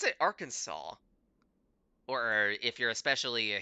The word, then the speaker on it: Arkansas: hour, dower, the sucker for, gas, alas, and Arkansas. Arkansas? River Thames. What? River Thames. Oh, that's a shoe-in. That's a shoe-in for weird pronunciations. There is no way Arkansas rhymes with four. We pronounce it Arkansas, or if you're especially a hillbilly, Arkansas.